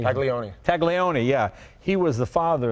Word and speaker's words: Taglioni: Fabio Tamerlan how do you say it Leone Taglioni yeah he was the father in the DES